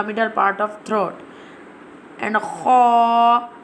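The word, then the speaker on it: خ: Ha pronounced from the middle part of throat, and kha pronounced from the top part of throat.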